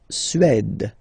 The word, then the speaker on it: Suède: La Suède, la Suède. Remember, accent grave, it's really open. Suède.